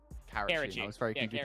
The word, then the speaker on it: Karachi: And the Karachi S&D is gonna be even more interesting, too, because, like, this will actually enable for Orja to get more involved early.